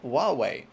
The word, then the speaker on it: Huawei: and I think I might finally have that pronunciation correct Huawei how's that sound a bit better than I